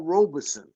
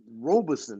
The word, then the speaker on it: Paul Robeson: Man, this man here, our brother, let me say his name right, Paul Robeson, not Robeson.